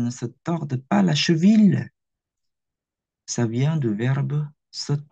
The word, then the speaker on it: cheville: cheville ou cheville la prononciation cheville et moi si je